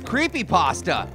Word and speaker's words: Creepy Pasta: say my name correctly it's creepy pasta not creepypasta there's a space between the words so